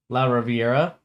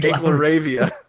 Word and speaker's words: LaRavia: Via the draft, they got La Riviera. They got David Roddy. I butchered that Dude, name. I like that name. La Riviera is way better. Jake LaRavia. Jake LaRavia.